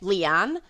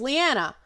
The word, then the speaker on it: Liana: way all my life I get Leon Leon LeAnn Liana my name is Liana I don't correct people